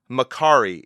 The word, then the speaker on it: Makari: down the line here so when I say Macari is that correct yeah you got it you